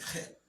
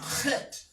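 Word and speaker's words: ח: Now, how many of you can pronounce the chet? Try it. Act like you're hacking. You know, like when you want to spit and you want to, you know? All right? That's guttural.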